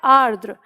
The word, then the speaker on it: आर्द्र: है, तो ये है आर्द्र। र का उच्चारण पहले आर यहाँ पर और फिर द्र।